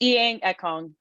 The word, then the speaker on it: Inyang Ekong: first name wrong but what's the correct way to say your day it's iang ekong ian kong okay so